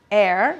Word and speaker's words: ere: Air.